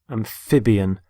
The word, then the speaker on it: amphibian: word is amphibian amphibian is the stress on the middle syllable amphib amphibian there are animals such as